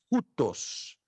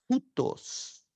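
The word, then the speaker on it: οὗτος: Você já aprendeu que esse ditongo tem o som de U. Nunca ou. Sempre U.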